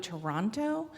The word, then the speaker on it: Toronto: uh use the code Toronto Toronto but Toronto put the T in the code because you guys do it like it's spelled not how you pronounce it and you'll get a